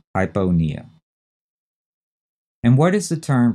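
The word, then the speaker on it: hypopnea: decreased respiration well that's hypona h y p o p NE a and again notice in that one the p in Pia is not set at all hypona and what is the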